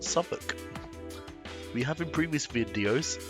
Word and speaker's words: Southwark: is dedicated to suffolk not south walk but pronounced suffolk we have in previous